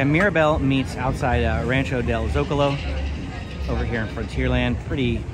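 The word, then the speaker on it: Zócalo: I always mispronounced it Zocalo, but Zocalo is actually a place in Mexico. Did not know that until recently. So that's the way that you would pronounce it, Rancho del Zocalo.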